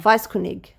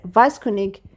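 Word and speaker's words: Weisskunig: biographical work we kunig vice kunig that's how you say it vice kunig mixed historical narrative with a mythic and chivalic symbolism.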